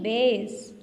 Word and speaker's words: base: S आ गया है, लेकिन दो वॉवल्स हैं इसलिए हम सेकंड वाले वॉवल को प्रोनाउंस नहीं करेंगे, और जो पहले वाला वॉवल A है वो लॉन्ग हो जाएगा, BASE बेस. Okay, yes.